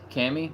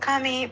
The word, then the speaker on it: Kami: Hello, Cammy. Is that how you say your name? Cammy. Uh, it's pronounced Kami. But it's okay, Cammy.